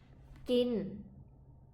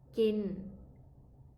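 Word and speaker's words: กิน: Le premier, kin. Kin.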